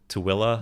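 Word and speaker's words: Tooele: it's spelled hurricane and tul but you pronounce it toilla mhm just weird manway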